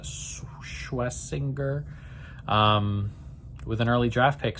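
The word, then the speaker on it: Schwesinger: And then you bring in the rookie, Schwessinger, I think is how you say that, Schwessinger, with an early draft pick.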